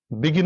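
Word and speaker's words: began: past প্রার্টিপল হচ্ছে বিগান এটা অনেকে হয়তো জানো না বিগিন বিগান বেগুন মানে আমরা বেগুন দিয়ে মনে রাখি উচ্চারণটা বিগান যাই হোক বিগিন বিগান বেগুন এটা টেকনিক আর কি কিন্তু উচ্চারণটা বিগান তো দ্যা প্লেয়ার হ্যাজ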